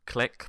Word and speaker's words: Clique: I know it's pronounced click, but it's like click, like clique, like with a Q, like friendship group.